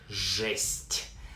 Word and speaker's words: жесть: Pronounced like жесть.